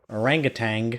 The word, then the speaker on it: orangutan: believe that like that I was shocked to find there wasn't a G at the end of it today orangutan I've been saying that